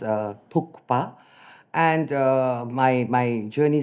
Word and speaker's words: Thukpa: So guys, it's not tuka, it's tuka t h u kuk p a pa tukpa.